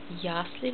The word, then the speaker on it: Ясли: Ясли, Betonung auf erste Silbe.